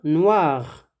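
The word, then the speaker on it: noire: Mais noir, noir. Même prononciation, mais on ne prononce pas le E de féminin.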